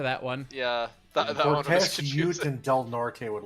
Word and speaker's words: Del Norte: Vista kind of depends I have never heard anyone say Del Norte it's Del nort Colorado did not like